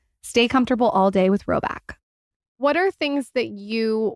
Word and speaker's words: Rhoback: Roback also has an entire new women's fall collection.